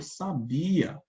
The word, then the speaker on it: sabia: e o adjetivo sábia Olha a diferença de pronúncia pessoal na primeira a gente fala eu sabia já na segunda a gente fala ela é